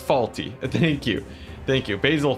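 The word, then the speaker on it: Fawlty: It's pronounced faulty.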